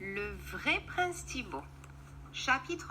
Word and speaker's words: Thibaut: They named him Thibaut because, said the king, Thibaut rhymes with beau.